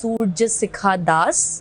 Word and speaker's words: Surjasikha Das: It is pronounced as Surya Sikha Das and the meaning is it's sun's temperature.